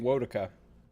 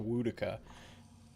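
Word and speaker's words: Woedica: I keep saying Wodica. I actually know that it's supposed to be pronounced Wodica, based on what the voice actor, how the voice actor pronounces. So the Temple of Wodica.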